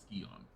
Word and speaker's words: Scion: I know it looks like Scion, and I know that in a lot of ways you could end up saying Scion, but they do pronounce it Scion.